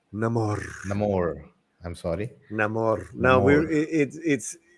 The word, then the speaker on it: Namor: It's pronounced Namor.